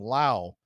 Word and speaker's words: Lowe: about this last night Josh Lowe who's on the IL he pronounces his last name Lowe Brandon Laos pronounces his last name Lau spelled the same way